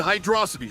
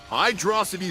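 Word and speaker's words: Hydrocity: Why wouldn't they add a space in between hydro and city that if it was supposed to be pronounced that way? They do this with every other zone. Why are you showing a low level of intelligence, Knuckles? Because the two words happen doesn't mean that they are the same pronunciation.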